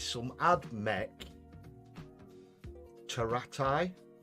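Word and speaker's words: Pteraxii: it's some ad mech taratai teratai but it's spelled with a it's spelled p t e r double t uh double t double i something daft like that just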